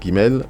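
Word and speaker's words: גימל: Ok, c'est la lettre Gimel et c'est le son G comme dans gare.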